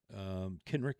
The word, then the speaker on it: Kenrick: Sorry I mispronounced your name. Kenrick it is.